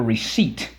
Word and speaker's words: receipt: culture to culture it the pronunciation changed but it does retain that P and make sure that you underline that twice now when you when you have a receipt right that's a proof